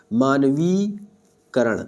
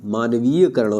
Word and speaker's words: मानवीकरण: कर देता हूं लगेगी मानवी करण मानवीय करण नहीं होता है मानवीकरण होता है क्या होता है मानवीकरण होता है यानी या नहीं होगा तो फिर भी क्या होगा मान वी करण मानवीकरण हो जाएगा यानी हम लोग क्या सोचते हैं यानी यानी ना पे छोटी की मात्रा का उच्चारण करते जो कि गलत होता है यानी होता है क्या